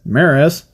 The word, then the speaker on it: MRAS: Anyways, but now reduced to a single specimen, the Mega Robotic Assault System 2, also known as the MRAS-2, pronounced as Maris.